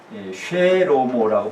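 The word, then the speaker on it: שְׁלֹמֹה: 사실 솔로몬은 원래 쉐로모라고 발음하고 쉐로모, 번역은 우리말로 그냥 솔로몬 번역해버렸어요.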